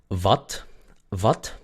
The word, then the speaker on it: wat: Wat es una A corta, muy bien, porque está entre la V y la T, y es una sola sílaba, no es va, ya, es wat.